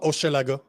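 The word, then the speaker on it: Hochelaga: Or if not, how do I pronounce that? Oma Oshalaga? Oma Oshalaga.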